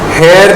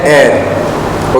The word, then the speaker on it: heir: हेयर नहीं बोलते हैं इसको. मैंने बहुत लोगों को सुना है हायर हेयर बोलते हुए. इसका प्रोनाउंसिएशन इज AIR. हवा वाला एयर. बात हो गई खत्म और कुछ सोचना ही नहीं है. इसको बोलते हैं एयर.